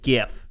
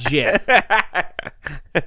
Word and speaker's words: GIF: I said GIF, not GIF.